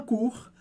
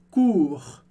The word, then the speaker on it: cours: Un cours, um curso. E no final dessa palavra a gente tem o som do R do francês, que a gente pronuncia.